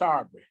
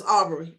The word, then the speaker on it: Arbery: how are you doing i'm good am i pronouncing your last name right is it or aubry aubry it's aubrey it's aubry okay the first question i would like to